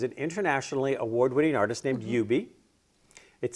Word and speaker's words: Hubert: internationally award-winning artist named UB it spelled Hubert but it's pronounced you be okay or that's what